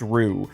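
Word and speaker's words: roux: That row sure is it pronounced row ru? I think it's pronounced rue.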